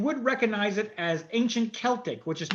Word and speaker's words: Celtic: because I found out, obviously we've got Celtic football team over in Glasgow. Yeah. It's called that rather than Celtic because that was just how everyone pronounced it about 100 years ago.